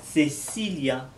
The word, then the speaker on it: Cecilia: Le premier, c'est le son des lettres C, CE, CI ou Z. Pour les prononcer, il faut que vous mettiez la langue entre les dents. Cecilia, Zorro, Cielo.